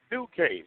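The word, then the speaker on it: Ducat: 11, Lexi Duque, and she spells her name D-U-C-A-T, but it's pronounced Duque, so go figure that one out.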